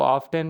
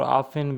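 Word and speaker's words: often: की माना है अक्सर इसको ऑफ्टन भी पढ़ते हैं और ऑफेन भी ऑफेन की माना है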